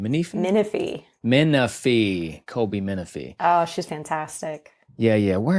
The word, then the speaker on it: Minifie: Colby Minifie. How do you say her name? Minifie. Colby Minifie.